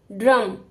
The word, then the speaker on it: ड्रम: ट है ट्रक ड के नीचे पद इन की मात्रा तो ड के बाद ही र का उच्चारण होगा ड्रम ट के नीचे पद